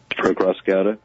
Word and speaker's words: Acrassicauda: This one is Between the Ashes from, you got to pronounce it for me, man. Acrassicauda?